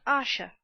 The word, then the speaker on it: Asher: His name is Asher. Pronounced Asha.